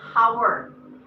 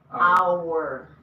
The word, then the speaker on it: hour: You don't say hour. So this is silent. Hour. Silent. Uh-huh. You say hour. A. Yeah. So it still starts with a. So you say an hour.